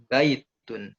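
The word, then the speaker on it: بَيْتٌ: ada Alif ia wow maka berilah tekanan di huruf yang pertama misalkan apa pada kata baitun baitun disitu apa namanya tidak ada huruf mad itu ya tidak ada huruf mad tidak ada tasydid maka bacanya baitun Mbaknya ditekan baitun bukan baitun itu salah itu ya tapi baitun contoh lagi di masjidun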